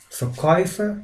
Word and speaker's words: Verkäufer: And guys, the fourth combination is similar, has the similar sound, but the letters are different. We're talking about umlaut A and U. And this takes, as I said, the same sound, oi, like in toy, in the English word.